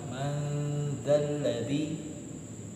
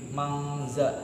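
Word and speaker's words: مَنْ ذَا الَّذِي: Man itu bacanya kalau nggak ditambah huruf setelahnya ya, man bacanya. Tapi karena di sini bertemu dengan huruf zal, maka dia berhukum bacaan menjadi ikhfa yang artinya didengung. Maka bacanya nggak boleh. Kalau teman-teman mungkin sering kayak gini, mangza, mang.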